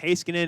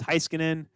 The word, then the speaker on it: Heiskanen: I used to say Heiskanen. It's Heiskanen, tomato, legacy, lagasse.